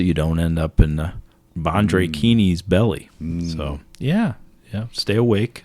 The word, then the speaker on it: Banjhakrini: Banjhakrini. Banjhakrini.